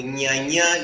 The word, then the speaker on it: Nya: and then you have the n y combination and it is pronounced near I don't want